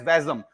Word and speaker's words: WASM: sort form is uh wasm which is pronounced as vasm so Blazer vasm SQL